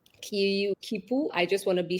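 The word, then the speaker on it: quipu: So, this, what we're looking at, is called as a kipu. Kipu. I just want to be sure I'm pronouncing it right, but there are like a couple of ways.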